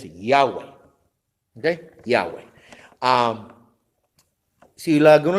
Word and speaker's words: Yahweh: muchos teólogos admiten, que el nombre más cercano a la pronunciación original de esas 4 letras es Yahweh. ¿Okay? Yahweh. Si a alguno le gusta usar Jehová, pues está bien, puede usar Jehová.